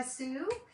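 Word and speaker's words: Sew: This is Revive DIY and Upcycled Designs by Sue. I am so glad you're here. In case you're wondering, I say Sue, even though it's spelled S-E-W. So you could pronounce that either so or Sue.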